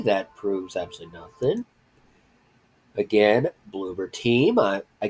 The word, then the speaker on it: Bloober: Again, Bloober Team. Bloober Team, not Blubber or Blooper or anything like that.